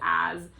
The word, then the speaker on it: as: tell them the word this is as and pronounce it as a z I like to make